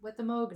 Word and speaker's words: Moog: I Moog, think. you think? Yeah. Moog, because it's mood indigo, so it's mood.